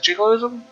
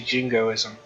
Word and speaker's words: jingoism: Is it jiggleism? Jingo is I think it's actually jingoism cuz there is no L.